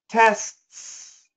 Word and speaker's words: tests: the first one perfect tests test longer second s tests test longer second S I want the the second s to be longer test tests longer much longer listen to me tests tests